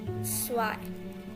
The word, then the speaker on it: zwei: then 1, 1, 2, zwei. Here, as I said earlier, that Z will sound like S and S will sound like Z. So here it's Z, but its pronunciation is just like S, zwei.